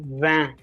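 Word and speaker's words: vingt: these nuff all right 20 is van all right it is not ranked whenever t is in the end never pronounce it until unless there is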